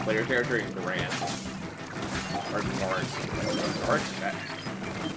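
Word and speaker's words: Garet: Or Gart? I always pronounce his name as Grant, I know it's not Grant. It's supposed to be Gart or something like that.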